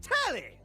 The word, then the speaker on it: Telly: The name's Telly. Rhymes with Nelly, like...